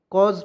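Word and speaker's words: cause: बाद देखिए यहां पे सी ए यू ए सी तो देखिएगा सी का उच्चारण जो हो जाए क के रूप में ए यू आया तो उसका उच्चारण औ के रूप में एस का उच्चारण यहां पे ज के रूप में करेंगे इ को इसमें साइलेंट कर देंगे कॉज पढ़ेंगे पढ़ेंगे ना जी उसके बाद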